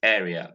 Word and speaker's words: area: last word here is area a local government area not local government area there is no a here it's not a you have here it's air you have here this is